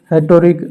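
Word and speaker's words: rhetoric: हेटोरिक are silent रह गया, हेटोरिक शब्द जाल होगा, हेटोरिक।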